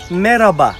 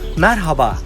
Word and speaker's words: Merhaba: kelime Selam anlamına gelmektedir yapılan yanlış ortadaki H harfinin genellikle yutularak söylenmesi ve Merhaba şeklinde telaffuz hikmettir doğrusu Merhaba olacaktır hemen bir başka kelime